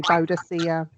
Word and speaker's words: Boadicea: Um, then also going to the local museum, I found that Chatteris was Boudica's last, it depends how you pronounce it. Some say Boudica, I say Boadicea, but this was her last stronghold, and she put up a good fight.